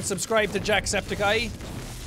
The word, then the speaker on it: Septiceye: saying subscribe to Jack Septic Eye. The Jesus guy read it wrong and pronounced it as spedicy.